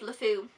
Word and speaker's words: LeFou: I think he's fantastic I love love foo that's how you say it um I love you